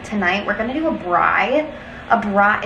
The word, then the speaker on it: braai: We're gonna do a braai. A braai, it's spelled B-R-A-A-I, I think.